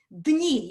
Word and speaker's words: дни: Дни, yeah, you have to pronounce these two together.